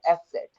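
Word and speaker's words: ß: और ये beta sine है, इसको कैसे रिप्रेजेंट करेंगे, कैसे प्रोनाउंस करेंगे? ये हो जाएगा एस सेट।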